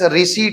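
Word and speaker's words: receipt: के उसी तरह मिसलेनियस रिसी है यानी इनकम हुई है रिसीप्ट पढ़ते पी साइलेंट होता है उसम ठीक है बैड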